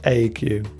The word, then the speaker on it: ague: And ague. So here the UE is pronounced.